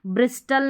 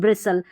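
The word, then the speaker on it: bristle: यहाँ पर हस्टल नहीं हसल, ब्रिस्टल नहीं ब्रिसल, कास्टल नहीं कासल, जॉस्टल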